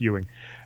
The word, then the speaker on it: Ewing: It's Ewing.